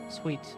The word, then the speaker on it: suite: Suite, sorry. That's how it's pronounced.